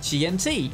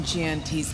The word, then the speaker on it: QianT: And yes, you did hear me right, it is indeed pronounced QianT, a fact that was recently pointed out to